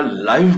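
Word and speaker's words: live: व्ही इ लिहिलेला असतो त्याला लिव्ह नाही म्हणायचं त्याला लाईव्ह म्हणायचं म्हणजे थेट प्रक्षेपण म्हणजे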